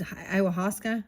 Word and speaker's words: ayahuasca: I always pronounce this wrong. I would say ayahuasca. Iwasaka. It is ayahuasca.